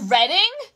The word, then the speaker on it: Reading: Is it Reading? You're kidding me. No. No. Ooh, I'm going there, says Colby. Nice. It's pronounced Reading.